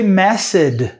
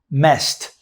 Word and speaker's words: messed: Pronunciation here, don't say messed with a D sound, and this E in messed is not going to be pronounced, the second E.